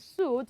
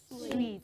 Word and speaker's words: suite: is pronounced fantastic so it is not hotel and suit but good so you say hotel and sweet ah so what is